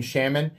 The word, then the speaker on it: Shaman: reason to get, like, I have many Spyderco Shamans. I think this is my sixth, and I am intentionally pronouncing it wrong. I've gotten so used to saying Shaman, this is how I say it.